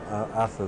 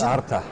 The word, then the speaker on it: Arta: Arthur Doyle. Yes. Well, it's pronounced Arta. Oh, Arta. Okay, yes, I get which it. means wealth.